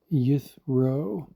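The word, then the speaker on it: יִתְרוֹ: H3503 yod tav r vav yeithro definition is his abundance.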